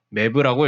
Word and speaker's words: MeV: 이를 역으로 계산하면 1줄은 6.242 곱하기 10의 18승 일렉트론 볼트이고 여기에 10의 6승을 의미하는 메가를 붙여 메가 일렉트론 볼트라는 단위를 주로 사용하며 메브라고 읽는 경우도 많습니다.